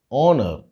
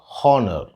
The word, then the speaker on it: honour: The twist here is it should be pronounced as honor instead of honor. The H at the beginning of the word is silent.